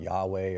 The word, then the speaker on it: Yahweh: this in the talking kablaba which you sometimes pronounce Yahweh or Yahweh which of course is the in